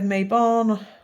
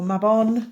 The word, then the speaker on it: Mabon: just gone through belan we have Mayon or mabon depending on how you want to pronounce it we have SA or